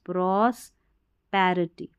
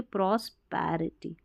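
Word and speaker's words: prosperity: प्रार्थना करती है, PROS, प्रॉस्पैरिटी, प्रॉस्पिरिटी की जगह प्रॉस्पैरिटी यानी कि समृद्धि, प्रॉस्पैरिटी, समृद्ध रहे, समृद्धि।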